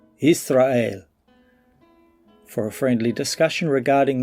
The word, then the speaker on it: Yisrael: Stop saying Yashar'el and call the people and the land by the name that Yahweh gave it in the Hebrew tongue, Yisrael.